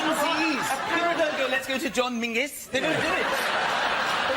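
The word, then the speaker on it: Menzies: His name is Mingus. Mingus. Yes. Goth. Yeah. Mus. Yeah. But it's pronounced it's it's spelled M E N Z I E S.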